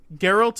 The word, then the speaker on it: Geralt: Geralt of Rivia is the name of the main character.